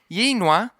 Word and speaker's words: YNWA: Liverpool fan names his daughter YNWA for You'll Never Walk Alone, pronounced Yinwa.